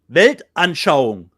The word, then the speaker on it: Weltanschauung: How do you pronounce The that German word? word? Yeah. Weltanschauung, which actually means, what does it mean, Rob?